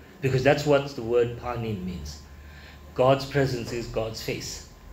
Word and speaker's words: panim: the Old Testament uh uh it it it's pronounced as panim p a n i m all right that